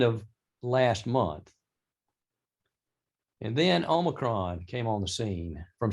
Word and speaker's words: Omicron: There are 4 different possible pronunciations. Merriam-Webster says Omicron. Omicron is the most common American, so I guess anything goes.